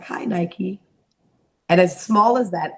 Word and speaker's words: Nike: just be in disbelief it cannot be Nike it'll be Nikki and that was kind of